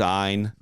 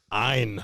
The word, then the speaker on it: Ein: His name is Ein. Ein. Ein. Rhymes with Brine.